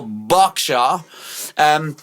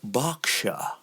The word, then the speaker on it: Berkshire: And because I know you, Royal Berkshire is where you come from. Ooh, is that a B-A-R? No, B-E-R. Royal, Lovely. but yeah, that's how posh. You posh when you pronounce Berkshire as Berkshire.